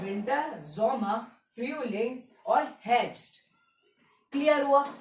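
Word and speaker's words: Sommer: हैं जोमा बताया था एस की साउंड अरे यार लिख देता हूं यार क्या यार कंफ्यूजन हो रहा है ना जे की साउंड जे वाई से प्रोनाउंस होता है और एस किससे प्रोनाउंस होता है जड से ठीक है ये देख लो क्लियर हुआ तो जड एस जड से प्रोनाउंस होगा तो जोमा जोमर ठीक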